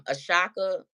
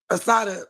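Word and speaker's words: Assata: And I also want to bring up um I I forgive me if I mispronounce this name, but um Ashaka Shakur like I feel like Assada Assada Assada great to you.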